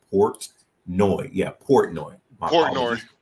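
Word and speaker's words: Portnoy: ponai P portoni I don't know I cannot pronounce his name I will do my best but it's Port noi yeah Port noi Port noi Port noi yeah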